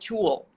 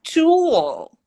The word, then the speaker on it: tool: Uh, and then when you start listening closely, oh, it's not tool, it's tool. Hmm. What the heck? And then you're reading about it and like, okay, they actually connect this ooh with the L through the w, right?